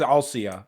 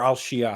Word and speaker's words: Althea: Even though it's spelled Althea in this translation, it is Alcia or Alshia, however you want to say it.